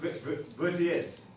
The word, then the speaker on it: Vertières: That's how it's spelled. It's spelled like that. It's got funny French spelling to it. Yeah, but it's pronounced Vertiers.